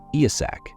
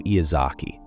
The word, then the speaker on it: Iyasak: His loyal subordinates, who, let's be honest, weren't the brightest, couldn't pronounce his name correctly. Iyasak became Iyazaki, no matter how many times he corrected them.